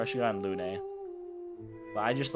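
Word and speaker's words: Lune: It's Lun. You were always there for me. E can be pronounced like an A in some languages.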